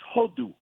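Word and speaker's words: הודו: And there's a word in Hebrew which sounds a lot like hodaya. It's hodu. Hodu.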